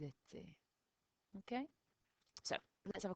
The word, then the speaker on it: étaient: And remember, we don't pronounce that ent on the end. Ils étaient.